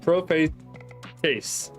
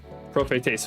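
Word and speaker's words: προφήτης: All right, this is prophates. Yes, prophates, which means prophet. Because if you were to spell it out, you kind of see the word.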